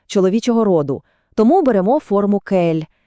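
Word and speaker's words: quel: Вимовляються вони всі абсолютно однаково. Просто кель.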